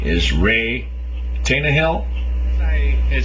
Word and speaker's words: Reay Tannahill: book sex in history and I believe the pronunciation of the author's name is Ray tanah Hill I had said before I think this writer